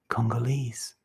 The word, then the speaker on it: Congolese: from the congo which makes her congolese rhymes with knees so what are you